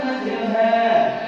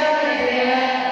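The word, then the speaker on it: مجريها: Kalimat majroha dibaca majreha. Kalau imam lain apa?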